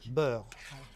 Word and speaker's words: beurre: How do you say butter in French? Butter. Beurre. Beurre.